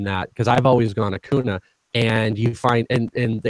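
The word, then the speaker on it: Acuña: So it definitely is Ronald Acuna, just for people.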